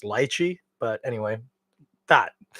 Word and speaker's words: lychee: on multiple occasions, is what most people call lychee. I think it's actually very properly pronounced lychee, but anyway, that it's a very typical Asian fruit.